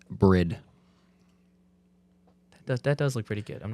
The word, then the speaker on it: Bride: how you pronounce it it is bread but we say bride but I'm just trying to be a jerk because Johnny's asking so it's bread best seat yeah what's what